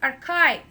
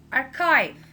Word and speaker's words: archive: a vowel a scheme architecture archive please don't pronounce it or she it's not our sieve its archive archive archive chemist chemist psychiatric so I can trick